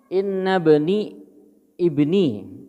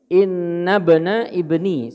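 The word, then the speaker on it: إن ابن ابني: Faqala, dia berkata, inna bani mata, sesungguhnya inna bani ibni inna bana ibni bacanya inna bana ibni, sesungguhnya anak laki-laki dari anak laki-lakiku, gitu.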